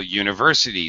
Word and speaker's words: university: umbrella and umbrella and some words have an actual why sound uh for example university so you would say